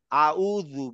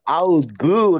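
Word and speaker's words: أعوذ: স্যার আউযু না আউযু আউযু, আপনার জিভ দাঁতে লাগতে হবে।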